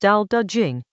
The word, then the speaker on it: Tao Te Ching: Chapter 49 of the Tao Te Ching, pronounced Tao Te Ching, roughly the Book of the Way and its